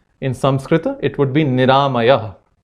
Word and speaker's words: Niramaya: In Sanskrit, it would be Niramaya. 4 syllables, Ni, Ra, Ma, Yah.